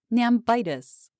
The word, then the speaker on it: nambitis: more tangible affliction, which we afterward named nambitis, with the accent on the penult.